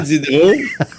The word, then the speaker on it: Diderot: Diderot. Le premier. Diderot, il y a 3 syllabes. Diderot. Oui, Diderot. Mon compte Diderot aussi. C'est le compte Diderot. Diderot, c'est OT, là, pas EAU à Notre-Dame-du-Lot, là.